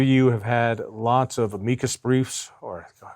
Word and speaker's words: amicus: Both of you have had lots of amicus briefs, or amici, is that how it's said?